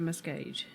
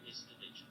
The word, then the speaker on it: Miscavige: It is David Miscavige.